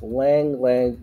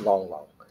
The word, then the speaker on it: Lang Lang: this really carefully Lang Lang okay so it's Lang Lang in uh in Mandarin but it's you in cantones it's pronounced as long long yeah so there we go all right huh